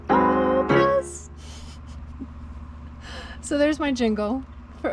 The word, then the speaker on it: Oupes: Well, it's not oops. It's not oops, it's Oupes.